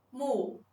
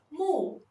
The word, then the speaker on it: 木: 木的拼音是木，木，它的声母是摸，韵母是乌，声调是第四声。